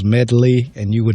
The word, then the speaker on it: Medley: It's 2 syllables, and then the D is kind of hard. Duh. Medley.